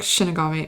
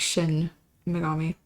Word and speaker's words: Shin Megami: I say it like Shinigami. I think it's like Shin Megami.